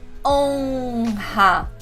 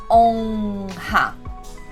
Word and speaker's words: honra: O som de on já não tem sorriso, ó. On. Ele vai aparecer com o com o tio, OM ou ON. Exemplos: aviões. O sorriso só veio depois, né? No O eu não sorri. Aviões. Ombro, O-M, ombro, e honra, O-N, honra.